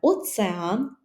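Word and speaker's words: ocean: може пам'ятаємо що пишемо через rрз океан - це оцеан оцеан цікаво Бо бачите не кажемо к а кажемо ц оцеан Затока так і бендж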